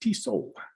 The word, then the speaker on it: Tissot: Prior to joining Tesla, he worked at Swiss watchmaker Tissot South America, pronounced Tissot, as a head of zones, Europe and Americas, where he was leading and coordinating global sales plans and strategy.